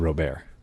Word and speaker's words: Robert: How about Luis Robert? That's what I said. He said Robert.